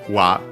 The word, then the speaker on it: wa: Originally would have been written as ha, but pronounced as wa after the changes mentioned.